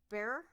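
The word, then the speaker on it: Bexar: you pronounce that bear there's an x in the middle yeah so it's like they pronounce it bear and b-e-h-r so somehow that x and that a become an h i i looked this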